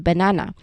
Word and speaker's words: banana: here's the key here when we say this word naturally in English we don't stress the first or the last part so we stress the middle syllable as you can see on the screen I highlighted the middle syllable um na which is also the same with the last syllable but yeah we are stressing on the middle syllable here for the banana So we say banana.